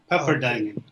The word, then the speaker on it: Pepperdine: of science geology also business administration from uh pepperdine university probably might correct my pronunciation if it's not accurate no you're good pepperdine thank you uh he held many managerial positions